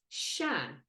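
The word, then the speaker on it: Seán: greeting plus their name John becomes Shan to say hello John we say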